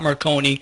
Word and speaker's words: Marconi: Stop Marconi. Rhymes with Sindoni, so you realize I wrote it because it was a true story.